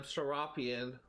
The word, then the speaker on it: Serapeion: I'm mispronouncing it all the time. Serapion. That's how it's pronounced, apparently. I guess that sounds a more accurate pronunciation than Serapeion.